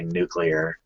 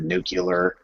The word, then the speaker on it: nuclear: on purpose with the common tendency in movies to pronounce it nucular holy good Jeannie like